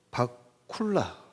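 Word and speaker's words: bakula: 있는데 바쿠라라는 그 있습니다 바쿠라 한약으로는 바쿠라 번보로는 바쿨라 이렇게 발음을 합니다 바쿠라 한역에는 빠져 있는데이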